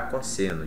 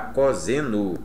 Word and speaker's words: cosseno: a isso por quê Porque imagine escrever cosseno com s apenas ninguém dirá cosseno dirá coseno por conta do som dizer para o s entre duas vogais e o cosecante da